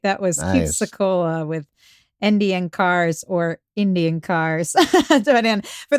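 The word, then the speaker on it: NDN Kars: In for those of you listening to the podcast version of the show, it's spelled NDN Cars with a K. Um, but of course when we say it, it sounds like Indian cars.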